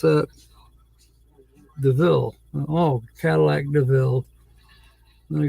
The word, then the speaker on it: DeVille: Well, Devil. When you pronounce that? DeVille.